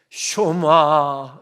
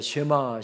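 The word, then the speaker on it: שמע: 쇼마 이시루엘 이스라엘아 들으라. 이스라엘아 들으라 하면서 말씀이 시작됩니다. 흔히 우리가 쉐마 쉐마합니다만은 정확한 히브리어 발음은 쇼마입니다.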